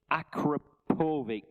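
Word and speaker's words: Akrapovič: And thanks for putting me right on the pronunciation. Akrapovic.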